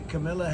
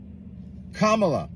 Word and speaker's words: Kamala: he's 60 years old you know that the Camila Harris K La Kamala if you really want someone to listen to